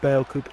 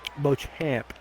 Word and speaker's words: Beauchamp: Again, we don't know if Bale Coop is the one that Beauchamp, as I'm being told, I've been mispronouncing it.